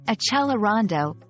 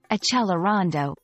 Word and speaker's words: accelerando: Understanding Accelerando in English.